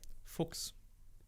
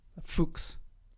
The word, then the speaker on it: Fuchs: Fuchs. Fuchs. Fox. So, it's the German name for the fox. Oh. But it's not like pronounced as an English speaker might think it would be pronounced.